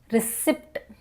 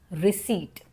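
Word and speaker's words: receipt: This word रिसीप्ट नहीं है। This is wrong. Right pronunciation is रिसीप्ट।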